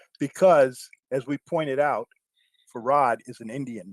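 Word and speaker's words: Farrad: have an Arab name his name is farad and and they even spelled it back in the 1930s they even spelled it f a r r a d all right and when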